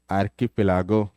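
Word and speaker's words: archipelago: volcano are known as आर्की पिलागो क्या बोलेंगे इसको क बोलेंगे आर्की आर्की पलागो बात समझ में सम टाइम्स सी सी इ प्रोनाउंस एज क सम टाइम्स च एंड सम टाइम्स श य देखो इधर देखो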